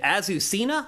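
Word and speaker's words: Azucena: are very divided named azusena I believe is the correct way to say ausa um and she is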